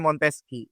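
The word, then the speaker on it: Montesquieu: Kalau namanya Monteski ini tulisannya Montesyeu. Montesyeu ya tulisannya begitu. Tapi dibacanya Monteski.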